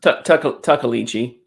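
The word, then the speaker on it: Tuckaleechee: The Tikalichi. How do you pronounce it? Tuckalichi.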